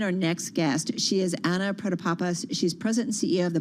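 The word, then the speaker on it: Anna Protopapas: let's bring in our next guest she is anna predapapa she's president ceo of the biopharmaceutical company mersana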